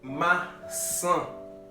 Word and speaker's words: maçã: Moment de nous prêter attention, pour nous capables de connaître et apprendre à prononcer mots dans la langue portugaise. Bora! Premier mot nous gagnons là, nous gagnons c'est maçã.